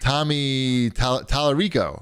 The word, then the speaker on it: Tommy Tallarico: And then Tommy Tallarico, right?